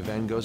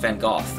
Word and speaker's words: Van Gogh: It's also interesting they pronounce it Van Gogh, when I think it's actually pronounced Van Gogh. Van Gogh's an Americanization, but not the way that it was actually pronounced by the person himself.